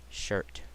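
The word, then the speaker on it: Shurit: out uh next up I run two shirt shirt yeah that's how you say his name uh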